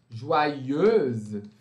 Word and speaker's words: joyeuse: joyeuse, feminino, né? Aqui esse eux vai se transformar em eu-se, euse, joyeuse.